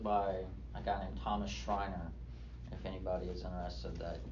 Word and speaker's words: Schreiner: There is a book by a guy named Thomas Schreiner, if anybody is interested, that goes through all the aspects of baptism.